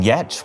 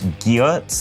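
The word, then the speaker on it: Giertz: surname and pronouncing it Geertz that when it came to starting her own company, she decided to name it after the very literal way that you should pronounce that surname.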